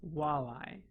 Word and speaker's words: walleye: Walleye. Just walleye. Walleye. 2 syllables.